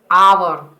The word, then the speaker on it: hour: An hour, we use an before hour because hour pronounces this word hour.